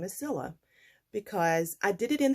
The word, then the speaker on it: Cilla: I am probably going to stop saying my name is Cilla because I did it in the beginning to help people know how to pronounce C-I-L-L-A. My name is Priscilla, and C-I-L-L-A is simply pronounced Cilla.